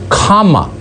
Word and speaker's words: Kamala: It is pronounced comma, not semicolon, comma, like the punctuation mark, a la Harris.